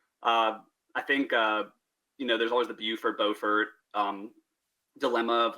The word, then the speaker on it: Beaufort: So it's Beaufort for north and Beaufort for south, but it's spelled the exact same way. And yeah, it's just interesting the way it's pronounced differently, even though it's the exact same word essentially.